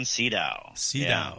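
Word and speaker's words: Sydow: spiderwalk and um and how old max von cedar was i didn't know anything second pronounce his name so you're good max von cedo okay yeah there you go now um you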